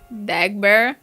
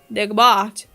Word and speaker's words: Dagbert: Dagbear? What? No, like the French pronunciation. Dagbert. Oh.